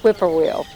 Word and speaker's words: whippoorwill: Whip, and then poor will. Whippoorwill.